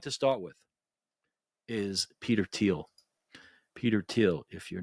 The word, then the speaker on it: Thiel: Zuckerberg or or musk or okay so Peter teal um and it's pronounced like Tel even though it's spelled t